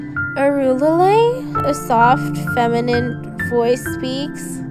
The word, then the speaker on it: Arulilei: Am I saying it right? No, I reply numbly. You have to say it like this. Arulilei.